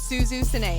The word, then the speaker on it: Suzu: name is suzu pronounced suzu yeah PR pronounced just like it's spelled and uh yeah basically